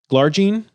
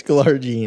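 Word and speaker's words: glargine: come to the market garene is it garene or glare genene is this Tyler Andrew mispronounces it's glar jeene okay Tyler mispronounces drug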